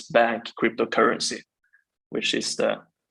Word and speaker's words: BANCC: Yeah, we pronounce it bank. I say bank. You can call it bank or however.